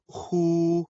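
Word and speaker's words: 呵: the heart Meridian the pronunciation of who like The Who and the English word Hoover the pronunciation is assisted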